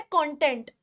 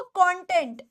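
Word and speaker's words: content: आ जाइए, ये वर्ड दिया गया है आपको कंटेंट या कंटेंट, दोनों दो प्रोनाउंसिएशंस हैं और दोनों के हिसाब से इसका मीनिंग बदल जाता है। एक हो जाता है कंटेंट और एक हो जाता है कंटेंट।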